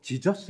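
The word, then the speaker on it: Jesus: 조금 좀 공부를 하다보니까 예수 란 이름 이 지져스 라고 발음하는 j 맨앞에 있는 제이를 영어권에서는 이 음으로 발음하지 않고 질수 로 발음 한다는 사실을 알았습니다 즉 예수 라고 발음해야 되는데 제이가 잡고 지울수 로 발음 되니까 영어권에서 예수가 지쳐 쑤가 된겁니다 그리고 요한은 좋으니 된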